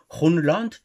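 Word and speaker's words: Grønland: Danemark propriétaire du Greenland pour ceux qui veulent prononcer comme les les Danois Runland pour dire l'île verte ne veulent pas céder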